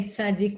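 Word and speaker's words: צדיק: that's a good question we say Sadiq with a cuff but there's an opinion that says he said Sadi so and that opinion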